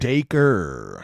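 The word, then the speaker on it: Dacre: Daker Montgomery, as we just learned, Daker, how to how to say his name.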